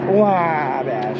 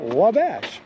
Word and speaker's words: Wabash: I'm pretty sure you're supposed to say it like a baby, like he's crying, like, Wabash. In Wabash. Wabash.